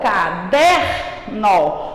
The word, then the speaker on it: caderno: Se a sílaba mais forte, ela for caderno, qual é a sílaba mais forte? O der.